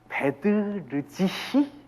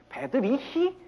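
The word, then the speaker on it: Bedřich: 자, 베드르지히 스메타나입니다. 베드르지히 스메타나입니다. 우리가 그냥 독일어식으로 읽으려면 베드리히 스메타나. 어디가 틀립니까? R이 틀리죠. 베드리히가 아니라 베드르지히 스메타나입니다.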